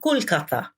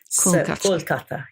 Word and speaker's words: Kolkata: It's now Kolkata. Kolkata, yes. So it's now pronounced, it's now been given the Bengali name and the Bengali pronunciation. Well, we went back to Kolkata, but I'll call it